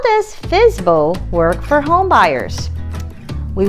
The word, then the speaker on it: FSBO: In real estate terms, this is called for sale by owner, FSBO, or pronounced as fizbo.